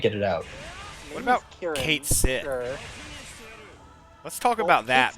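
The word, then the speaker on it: Cait Sith: Kit Shi? Come on. That's how you say it. No, don't piss on my head and tell me it's raining. Okay? It's Kate Sith. It was Kate Sith.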